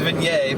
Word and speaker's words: vignette: I mean the French word is vignette, but I'm being extra fancy. yeah. You guys can't see it, but he's put on a monocle while saying that. Vignette. Just pronouncing it right. Everybody else is pronouncing it wrong.